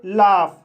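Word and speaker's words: laugh: जैसे लाफ, लाफ शब्द में AU का उच्चारण आ हुआ है और GH का उच्चारण फा हुआ है, इसलिए इसे लाफ पढ़ा जाता है।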